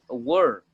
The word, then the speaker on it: war: is the correct pronunciation of war? Guerra. War. War. It's like an but more like an O.